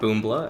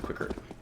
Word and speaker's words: Qikert: I know many of you guys commented that it is not Boombla, as I said before, trying to read it phonetically, but here we are with Qikert.